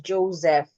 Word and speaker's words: Joseph: I only know the word has the name as Joseph. The S sounding like a Z. But let's confirm if it has two names. Okay, yes, it does. It does. It has two transcription. It has Joseph and Joseph. Interesting. Joseph and Joseph. So you can decide to change the S to a Z, and you can decide to retain the sound of the S.